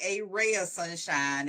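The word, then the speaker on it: Aray of Sunshine: We have Michelle Knox of, is it a ray of sunshine or a right? How do you say that? It's actually a ray of sunshine.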